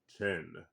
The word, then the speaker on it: Qin: Um, this story takes place during the Chin Dynasty or theQing Dynasty and it's spelled uh Q I N.